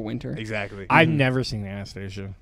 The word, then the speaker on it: Anastasia: It's not Anastasia. Yeah. It is pronounced Anastasia.